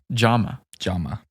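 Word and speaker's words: Jaume: Which, how do you pronounce the name? Jama. Okay. Like pajama. Like pajama.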